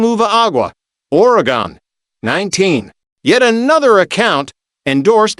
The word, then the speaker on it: Oregon: According to the Oregon Tourism Commission, present day Oregonians, Reunix 20 pronounce the state's name as Oregon, never Orgon.